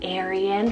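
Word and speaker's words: Aerin: one means Bright Little House Aryan Spell a-e-r-i-n Aryan for your little boy and this one means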